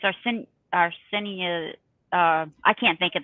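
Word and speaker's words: artesanía: but it's our sin arsenia uh I can't think of the first word Rinconada yeah yeah it's a-r-t-e-s-a-n-i-a and then rankinar Rinconada something like that I'm not saying the first word right I mean according to this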